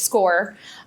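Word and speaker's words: SCOIR: It's spelled a little funny. S C O R. So, it's SCORE, um, is how you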